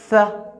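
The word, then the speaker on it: ث: Th. Th. Cette lettre, pour bien prononcer cette lettre, on place la langue entre les dents.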